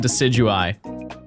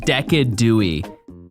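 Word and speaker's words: Decidueye: What's your opinion on decidui? I don't understand why people call it decadui. Like, you realize how many syllables you're saying in a single name?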